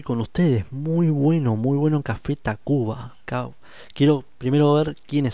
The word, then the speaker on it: Tacvba: Muy bueno Café Tacuba. Cabo. Quiero primero ver quiénes son. Café Tacuba. Esto me habían dicho. TAC B corta, B larga A. Se escribe así, es una manera de ellos de escribirlo.